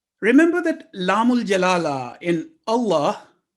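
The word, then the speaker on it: الله: Remember that lamul jalala in Allah, letter lam is divine word of Allah, is always pronounced with thick or heavy sound if preceded with a letter carrying fatha or dhamma.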